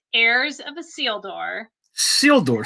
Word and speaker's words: Isildur: Isildur. So it's just a silent I. Yes. It. So think of like a seal and a door. It's the same Isildur that they pronounce in Lord of the Rings.